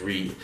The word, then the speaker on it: Reate: this particular company that's how i'm going to pronounce it as reed so without any further ado this is the